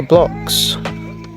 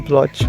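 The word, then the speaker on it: Bloch: Next shoes are blocks. I used to call them blotch before, until I now learned the correct pronunciation that it's block.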